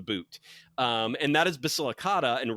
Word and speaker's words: Basilicata: If if Italy is a boot, it's not Basilica. It's Basilicata and Compana.